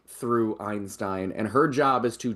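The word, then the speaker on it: Ayn-Stayn: corporation in the world, which is called Einstein, but it's spelled like AYN hyphen STAYN.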